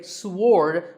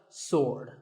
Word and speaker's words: sword: what about this word sword many people say sword but that is totally wrong it's just sword and here's one last word with silent letters